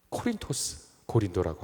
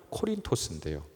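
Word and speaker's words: Κόρινθος: 지금 보시는 이 슬라이드에 나와 있는 이 곳 바로 고린도라고 하는 우리가 고린도라고 읽지만 이 말이 그리스어니까요, 그리스어로 읽으면 코린토스인데요.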